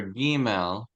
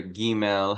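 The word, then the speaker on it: gimel: the letter G which the letter giml has two pronunciations it's a soft G A J and a hard G of G go either one's fine experiment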